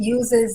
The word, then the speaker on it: Aus: And again, it uses that very popular Kemetic phrase, Ankh Ujasanev. Okay, so Us is spelled A-U-S.